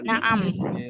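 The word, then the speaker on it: نعم: Naam. Wasabiru sabar. Di sini naam, ainnya pendek, jadi kita jawabnya naam.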